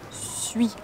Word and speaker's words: suis: very quickly to I, suis, suis, and we start the whole word here. Suis, je suis, je suis, je suis, suis, suis, ui is pronounced very quickly.